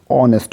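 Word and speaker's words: honest: तो ऑनेस्ट देखिए, ध्यान देखिए, ऑनेस्ट ये एच भले ही है लेकिन इसका प्रोनाउंसिएशन जब करेंगे तो ऑनेस्ट होता है, ऑनेस्ट, ठीक है।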